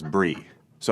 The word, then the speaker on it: bris: a bris was and I decided to pronounce it Bri Bri s as Bri so I did the whole monologue about my bris or like talking about this brands like a drama and then at the end of guy said thank you very much and it's pronounced bris I did not get